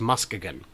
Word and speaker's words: Muskegon: going to Muskegon and I know you're saying that's not how it's pronounced but apparently according to the city council for their annual Meetup in June each year it is that how it's pronounced it's official it's still spelled the same but it's Muskegon and there will be